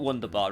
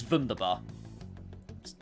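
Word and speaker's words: wunderbar: us all Wonder thieves the one thing I always remember from German is that W's are pronounced these like I've always always known that um I've always remembered that for some reason it's not wonderbar it's vunderbar and stuff like that and no I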